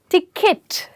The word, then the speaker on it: ticket: इसकी correct pronunciation है टिकट। यस, जैसे किट कैट में किट होता है ना, दैट किट। या फिर आपके जिम में जब आप सामान भर के लेके जाते हैं, वो वाली किट।